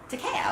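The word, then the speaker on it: Takeo: it right te te Teese t a t a k e o TKO TKO like a knockout o and TK like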